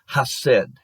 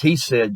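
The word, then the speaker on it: hesed: about a concept called i said and that's in hebrew i think that's that's how you pronounce it according to what i looked up is he said just in english h-e-s-e-d it means loyalty goodness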